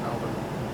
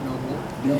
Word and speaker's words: Melbourne: So last year we played two shows, one in Melbourne and Melbourne. Is that how you say it? Melbourne? You guys say Melbourne. We say Melbourne.